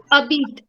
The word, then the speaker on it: habite: हाँ, so habit नहीं होगा because her sound तो है ही नहीं ना French में. Habite.